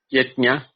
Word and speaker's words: Yajna: to us in that is it yetnia? Is that how you say it? Yetnia? Yes. Yajna.